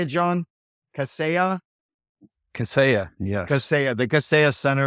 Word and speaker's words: Kaseya: Kaseya, yes.